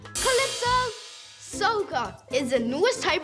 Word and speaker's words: Calypso: Calypso has a silent Y. Spell it with me. C A L Y P S and O. Calypso SOA is the newest type of music of them all.